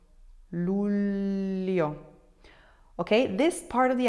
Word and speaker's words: luglio: Famiglia, figlio, figlio, figlio, coniglio, coniglio, coniglio, luglio, luglio, luglio.